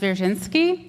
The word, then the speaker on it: Dzwierzynski: It's pronounced Dzwierzynski, and that's why I go by my first name all the time.